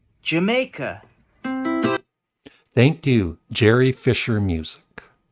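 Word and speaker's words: D'yer Mak'er: know i' i' in the past I've said dire maker but it's actually here's how I play the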